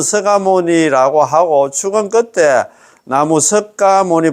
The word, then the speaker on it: 석가모니: 자 우리의 근본되는 서상은 우리의 본사 서가모니 부처님 1 발음은 서가모니 서가모 석가모니 부처님으로 석가모니 불 이래 돼 있는데